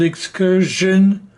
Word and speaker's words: excursion: Let me call your attention to the fact that both version and excursion are pronounced with a j rather than sh. Some people say excursion, which is wrong. It should be excursion and version.